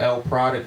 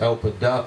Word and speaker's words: LProduct: is spelled L product but pronounced L Puck.